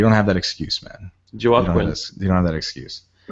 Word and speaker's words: Joaquin: And you're like, I think Hoa Queen enjoyed that goal too much. People. Who the fuck is Hoa Queen? That might be the worst pronunciation of Joaquin I've ever heard in my life.